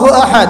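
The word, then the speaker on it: أحد: উচ্চারণ কেমন করে পড়তে হয়? বলুন আহাদ।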